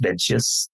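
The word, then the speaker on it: Mengzi: understanding of the text so mza is the Chinese pronunciation that's been known in English as menus and so I sometimes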